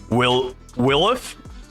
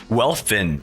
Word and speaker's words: Welfin: Willif? Welfin. Well, I don't know why I said Willif. That's not how you pronounce any of that at all.